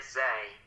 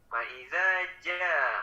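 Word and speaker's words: فإذا جاءت: Nah, ini tadi dibacanya zai, z kalau zai mah ya. Faiza ja, bukan za.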